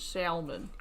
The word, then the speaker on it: salmon: How do you pronounce salmon? I don't pronounce the L. Pronounce it as salmon cuz I think it's fun, but I don't.